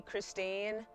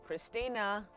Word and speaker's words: Christina: people will call me Christine. And I'm like, "No, no, no, no, no, no, no, no, no, no, no. That is not what my name is, say the third syllable, Christina.